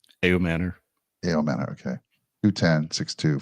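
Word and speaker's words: Ayomanor: Ayo Manor.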